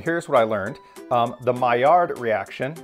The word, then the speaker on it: Maillard: learned the mayard reaction it's a french word so if you pronounce it properly i think you leave off the end of the word so it's like my yaw reaction but we say my yard it occurs when part